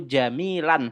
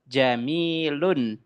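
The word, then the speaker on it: جميلٌ: Jadi salah kalau teman-teman membacanya al-baitu jamilan, salah. Al-baitu jamilin. Salah. Yang betul gimana Ustaz? Yang betul adalah al-baitu jamilun.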